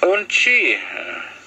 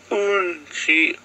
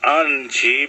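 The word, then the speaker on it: unci: Onchi. You can say unchi, onchi. I wouldn't say anchi, but unchi. So you gotta expel that little ch.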